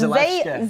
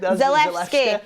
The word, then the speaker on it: Zalewski: It's Zalewski. That's what I said. Zalewski.